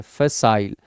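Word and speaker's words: facile: ये याद रखना, मैंने प्रोनाउंसिएशन दिया, अक्सर बच्चे यहाँ पे फेसिल बोलते हैं, फेसाइल।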